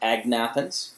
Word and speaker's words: agnathans: leech doesn't it well those are called the anathan sometimes pronounced agnathans but lampre hagfish we